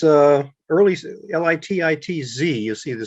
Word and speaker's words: Lititz: of litus pennsylvania um lit it's uh early l-i-t-i-t-z you see the spelling there early spelling was